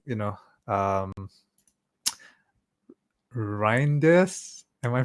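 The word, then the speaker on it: Reijnders: I mean a lot of people are saying you know um Rindes am I pronouncing that right? Yes. Tani Rinders.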